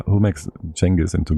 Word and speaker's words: Genghis: Like the English like how do they pronounce people's names like wrong? Yeah. Like who makes Jenis into Genghis and stuff?